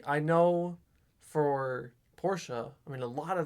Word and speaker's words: Porsche: So, Also, real quick, I know that the correct pronunciation of Porsche is Porsche. I'm American, and that sounds stupid to me, so I'm not going to call it that. that's fine. I'll call it Porsche.